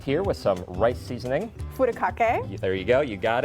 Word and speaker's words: Furikake: Furikake. There you go. You got it. You got the better pronunciation than I did.